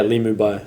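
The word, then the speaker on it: Li Mu Bai: Uh yeah, Lie Mubai.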